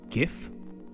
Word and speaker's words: GIF: or I mean loaf gif really Janet both pronunciations are valid I know I just didn't take you for a hard G kind of person I don't want to